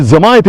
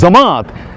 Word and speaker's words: জামায়াত: প্রিয় বন্ধুরা, আপনারা নামটাও শুদ্ধ করে উচ্চারণ করুন, শুধু বলেন জামাত। জামাত মানে কি? জামাত মানে তো গ্যাদারিং। তো ওটা কি গ্যাদারিং ইসলাম নাকি? গ্যাদারিং মানে সবাইকে জমা করে জামায়াত, জামায়াত ইসলাম, জামাত না।